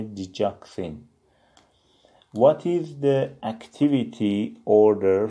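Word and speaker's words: digoxin: Diuretics، vasodilators and digitals، دیورتیکا مدرها، ویزو دیلاتورها گشاد کننده عروق که پریلود کمتر بشه و دیجیتال داروهایی مثل دیجاکسین تلفظش میشه دیجاکسین.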